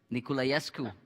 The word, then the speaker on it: Niculaescu: just i'm just wondering if i pronounced your last name correctly nikolayesuku yeah yeah that's it yes what is what